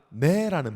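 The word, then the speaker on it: ναί: 헬라어로 되게 쉬워요. 단원 하원니가 네라는 발음이 있어요. 네. 우리나라 말 똑같죠.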